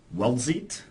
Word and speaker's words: Weldzeit: And the third winner is Weldzeit. That's how I would pronounce it. Is there a T there? I can't. Yeah, there is a T. Weldzeit?